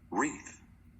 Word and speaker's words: wreath: The letter W in front of the R is silent, the letter K in front of the N is silent, and the letter G in front of the N is silent. So you're only gonna say the second sound for these two letters.